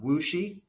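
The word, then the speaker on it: WuXi: mentioned in that bill um it's spelled wxi pronounced wooi so wooi abtech and wooi bio this is a very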